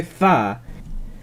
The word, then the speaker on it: þá: debo reconocer que si suena como si dijese da en vez de Za pero parece que en general está pronunciando las fricativas dentales y como si fueran